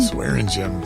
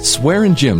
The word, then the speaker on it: Swaringim: Mike and you just told me your name pronounce that again swearing JY swearing gy so if you're in PE class and you're